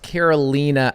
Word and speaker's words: Carolina: over here green goes over here but it's pronounced Carolina she's in the Northwest leadership and sub 2.